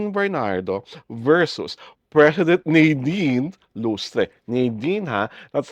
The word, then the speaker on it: Nadine: versus President Nine Lustre Nin ha that's how her name was pronounced by Senator Kiko Pangilan Nin po ang tamang pronunciation hindi Nadin Nin Soare ' ba yung